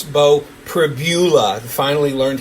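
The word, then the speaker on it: Pribula: It's Bo Privbula. Finally learned how to pronounce his name correctly. Pbula.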